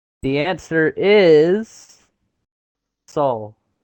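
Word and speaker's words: Seoul: Is it in I don't know how to pronounce it. Seag like s e o u l or soul soul. Soul. Yeah.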